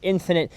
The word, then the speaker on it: NFNT: And the name NFNT, or Infinite as it's pronounced, has 2 main meanings.